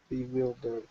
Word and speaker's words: bewildered: Bewildered. Good. Yeah, we see that word wild in there, but this one's actually pronounced like, I'll separate the words for you, like that.